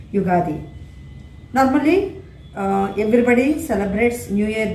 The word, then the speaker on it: Ugadi: we celebrate is yugadi normally we pronounce it as wagadi but we have to pronounce it as ugadi normally everybody celebrates new